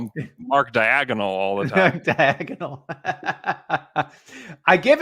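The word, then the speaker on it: Daigneault: know i give uh mark egnol uh credit is that even how you say it yeah degnault yeah you're right okay all right wait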